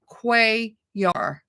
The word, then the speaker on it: Cuellar: kindly told me that his name is pronounced Cuellar. Cuellar. Right. So even though I took Spanish in school, I should have known that. The C, I think, sort of threw me off a little bit.